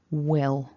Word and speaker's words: will: long e he and with will we've got that a short e and a dark owl so it's it's not at the front of the mouth it's at the back all will will so in the long